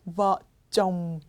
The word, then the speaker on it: vợ chồng: 부부 vợ chồng. 여러분 입을 다물어 주셔야 되는 발음이에요. vợ chồng.